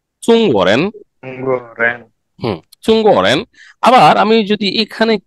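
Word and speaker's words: 中: Actually সঠিক উচ্চারণ হচ্ছে চুঙ্গ।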